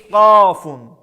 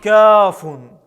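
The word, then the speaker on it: ك: Буква Каф произносится, когда мы среднюю часть языка прижимаем к среднему небу и затем отрываем. Эта буква также является смычной и глухой, произносится без звука. Она является мягкой, читается через и она мягче, чем в русском языке.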